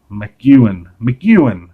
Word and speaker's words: McEwan: 1975, Joe Casey, Ian McEwan, that's how you say his name.